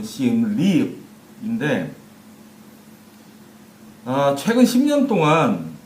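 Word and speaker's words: Siem Reap: 정확한 발음으로는, 여기 현지 발음은 시엠립인데, 최근 10년 동안 이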